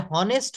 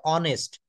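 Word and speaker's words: honest: যেমন হি is dash এটা হনেস্ট হবে নাকি অনেস্ট হবে? এটা রাইট উচ্চারণ হবে অনেস্ট।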